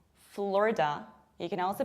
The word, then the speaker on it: Florida: And surprisingly, this is not Florida, this is not Florida, this is not Florida, but this is Florida, Florida. You can also pronounce it Florida with A, Florida.